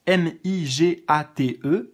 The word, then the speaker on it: Migate: C'est comme ça se prononce, M-I-G-A-T-E, Migate, plus loin no, N-O, plus loin Gokui, G-O-K-U-I.